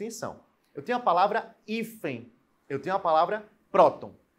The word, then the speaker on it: hífen: eu tenho a palavra hífen eu tenho uma palavra próton ó hífen hífen é uma paroxítona a sílaba tônica é a penúltima e ela termina em